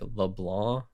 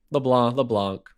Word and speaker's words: LeBlanc: It's technically like LeBlanc, and the C is silent because it's French, but okay. I just always say the C because if someone needs to spell my name, they need to hear the C.